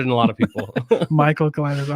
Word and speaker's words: Mikal: are we all right welcome mccall michael michael yeah okay you're not the first person i promise all right